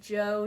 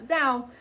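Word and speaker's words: Zhou: of the Shang and Joe dynasties that almost got me again I almost said it wrong but I said it right it's Joe not Zhao compare and contrast the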